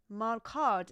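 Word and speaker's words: marcato: It has uh I recommend to use Malcart or Mal in Japanese it's called Marukato. In English, Malcart is the right pronunciation.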